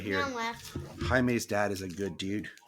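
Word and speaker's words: Jaime: it was so annoying because the guy kept pronouncing it as like jam not even Jamie he was like jam Rees I was like no it's Hae H can hear yeah it's it's it's really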